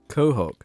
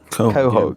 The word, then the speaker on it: Quahog: Quahog. Quahog.